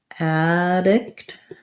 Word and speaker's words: addict: sounds like pra predict for addict we have the stress on the add syllable so we have an a black cat vowel so it's just like the word add addict addict long on your vowel and then for um